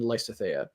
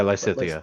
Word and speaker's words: Lysithea: to be in the game are Hubert and Lysithea. Did I say her name right? Yeah, Lysithea.